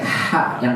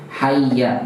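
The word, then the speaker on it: حَيَّ: Kalau azan pakai ha yang tipis. Makanya hati-hati yang azan ya, pakainya hayya, marilah, hayya 'alas shalah, ha, bukan yang haya.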